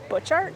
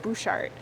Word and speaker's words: Butchart: on their website that it's Butchart Gardens like Butch Cassidy but then everyone here keeps calling it bushart so now I'm confused